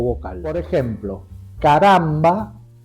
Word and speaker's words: caramba: o vocal por ejemplo Caramba tiene acento en la penúltima a es grave pero